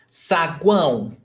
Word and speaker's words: saguão: Saguão. Saguão is like the lobby of the hotel. Saguão do hotel. It's like the lobby. Então, sa, uma sílaba. Guão, the other syllable. We do not separate them.